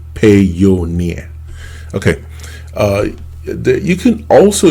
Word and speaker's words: Payoneer: from amazon okay uh i think payoneer or pioneer uh i don't know how most people pronounce it i i kind of pronounce it pay your near okay uh you can